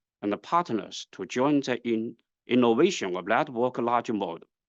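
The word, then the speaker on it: 爱: not and canot Miss in Chinese the word AI is pronounced as I which means love AI for good means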